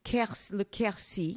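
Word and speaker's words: Quercy: river is part of a an area called Ki yes and all of this is that's spelled Q RC y right and all of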